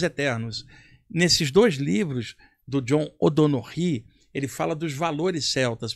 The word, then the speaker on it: John O'Donoghue: Não, sobre a cultura celta, tem um autor que eu gosto muito que já desencarnou, que é o John O'Donoghue. A pronúncia é essa.